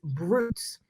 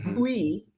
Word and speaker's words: Bruits: a few reasons is Broots, Broots phonetically, and that's kind of Broots, the Americanized version of it. But Bui would be the French spelling pronunciation of it.